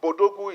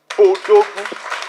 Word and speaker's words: Bodogu: So I don't want us to start pronouncing it as an English acronym. It is African, it is Nigeria, it is Bodogu. So when you pronounce it, don't call it B Odogu.